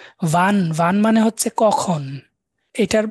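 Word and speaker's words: wie: ভি, VEA, ডব্লিউটাকে আমরা ভি উচ্চারণ করব।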